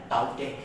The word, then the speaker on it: Tauktae: ये Arabic pronunciation है जास और ये म्यांमारी प्रोनाउंसिएशन है ताउते।